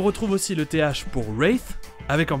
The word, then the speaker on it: Wraith: Et on retrouve aussi le TH pour Wraith, avec en plus un W qui est muet. Donc, Wraith.